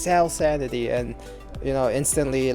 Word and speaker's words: SalSanity: But unfortunately, like I said, some other dude thought of the name too, SalSanity. Often people mispronounce it as salsa nitty, and I don't understand how, or they'll just call me salsa.